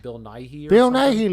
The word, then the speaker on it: Nighy: How do you pronounce that one guy's name? Bill Nighy or Bill something? Nighy.